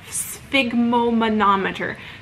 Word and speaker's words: sphygmomanometer: If you don't know how to say it, sphygmomanometer.